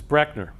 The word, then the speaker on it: Brechner: of the name so my last name is actually mispronounced by almost everybody that's the way it's actually pronounced is Brechner so if you take